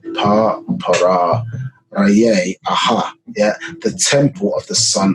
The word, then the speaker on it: Pharaoh: Yeah, the proper pronunciation of Pharaoh. Pa-para Raye Aha.